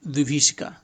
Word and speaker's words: विभीषिका: और क्या और ये विभीषिका विभीषिका वीवी नहीं है विभीषिका विभीषिका बड़ी की मात्रा ऐसे ही कर दिया जाता है और इ छोटी इ की मात्रा ऐसे किया जाता है उच्चारण ऐसे किया जाता